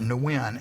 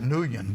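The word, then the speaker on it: Nguyen: So my my call sign was I mean I think you pronounced it nuin n guen. I mean I called it nuan which was the wrong pronunciation but I I had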